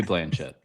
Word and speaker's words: Blanchet: and Chandler Blanche, I think is how they've now started to pronounce his name. It's It'll always be Blanchett. I was going to say it's Blanchett to me.